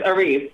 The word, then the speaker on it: Arisce: So, what is the correct pronunciation? Yeah, and it's not what you think. Yeah, Arisce? What is it? It's Arisce.